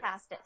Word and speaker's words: Pastis: Is that how you pronounce his name? I always forget. Pastis.